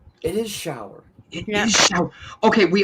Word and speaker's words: Schauer: Shower like the shower. It is Schauer.